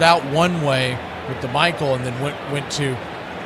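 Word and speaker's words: Maikel: It's originally Ronald Akuna Jr.'s 's cousin M A I K E L Garcia was being pronounced Mikuel for the first several years of his career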